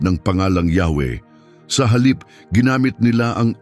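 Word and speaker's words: Yahweh: ng Diyos na kilala bilang white B at binibigkas na yahwe ay naglalaman ng malalim na makahulang mensahe sa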